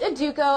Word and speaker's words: Educo: giving everybody a little uh background on you educo did i say it right it's a duco education however you want to say it it's